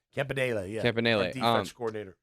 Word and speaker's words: Campanile: Campanile, did I pronounce that right? Campanile, yeah.